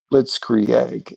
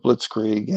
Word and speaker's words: blitzkrieg: You know, Candace Owen is pronouncing things like blitz egg instead of blitzkrieg.